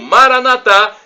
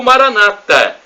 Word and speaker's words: Maranatha: de Jesus eu clamo Maranatha como dizemos nós católicos com a tônica na última sílaba ou Maranata com a tônica na penúltima sílaba como diz os irmãos protestantes ou evangélicos não importa porque somos